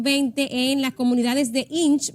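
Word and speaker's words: Hinche: en las comunidades de Inch, me dijo que así se pronuncia, y Mirabalé.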